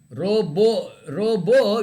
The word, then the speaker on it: robot: Robo, you don't pronounce the T. It is robo.